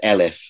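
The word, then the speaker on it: אֶלֶף: Now, the Hebrew word there is Elif. We spell it in English E-L-E-F.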